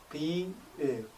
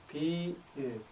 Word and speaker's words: 비읍: The 비읍 has a soft b sound, as from the word be, followed by the sound. 비읍, 비읍, 비읍.